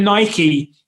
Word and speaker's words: Nike: just quickly going with nike right and i'm pronouncing it in the american way the correct way i guess uh nike